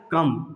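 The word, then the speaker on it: comb: कम। सिर्फ इसी का हमको प्रोनाउंस करना है, कम, ठीक है। कम, ये सही साउंड है, लेकिन कम्ब पढ़ते हैं लोग, गलत पढ़ते हैं।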